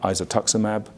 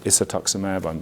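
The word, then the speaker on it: isatuximab: we also heard about isotox amab or isotox amab the pronunciation kind of varies a little bit I'm sure we'll get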